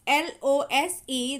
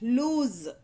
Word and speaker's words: lose: whereas in the lose l o s e there is a z sound at the end lose lose lose okay so